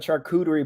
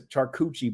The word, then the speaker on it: charcuterie: watch it's the first I've ever heard of charcuterie board be referenced as a charcucci board I like it I actually like that pronunciation A lot better that got me I